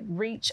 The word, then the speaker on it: RECH: community hope foundation okay we use the acronym it's pronounced reach it's not a a